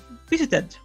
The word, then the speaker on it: visited: And the last example, visited, okay? Visit ends with the sound T, which is voiceless. But we do not pronounce two T's in a row. So we do not go visit. No. Visited. Visited.